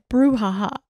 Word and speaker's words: brouhaha: And then brouhaha, which might be my favorite. It's spelled like brew, like B-R-E-W, haha. And like the word brouhaha, I